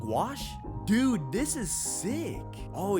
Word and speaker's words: gouache: I got to see how to pronounce that, too. Gouache.